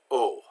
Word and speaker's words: au: up so a you is always pronounced like oh so the word Oh